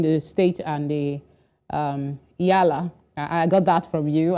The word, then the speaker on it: EALA: talked about between the state and the um yala I got that from you I didn't know that's how you pronounced it um so the Council of ministers